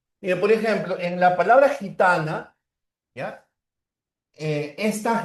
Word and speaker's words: gitana: Ya, gitana, ahí está la fuerza de voz. O la diferencia en la pronunciación acá entre gitana y esta otra, gui. La primera es gi, la otra es gui, guiso.